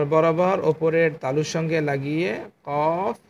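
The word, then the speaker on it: قاف: হরফটির উচ্চারণ কি? কফ, কফ, কফ।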